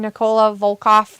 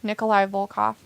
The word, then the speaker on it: Nikolai Volkoff: does hillbilly Gem and Nicola volkov really haul off him wrestlers Nikita Nikolai Nicolai sorry Nikolai volkoff I just said it wrong um but were they